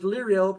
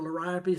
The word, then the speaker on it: Liriope: There's Liriope or Liriope. Some people pronounce it a different way.